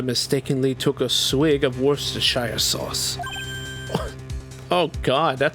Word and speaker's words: Worcestershire: drinks Worcestershire sauce? It was probably a prank. Just a prank, bro. That's pronounced. Yeah, it's pronounced Worcestershire.